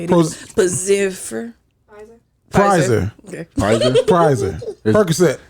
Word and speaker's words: Pfizer: Pfizer.